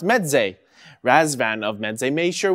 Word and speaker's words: Meze: enclosed headphones and earphones and it is pronounced meday rasvan of Med made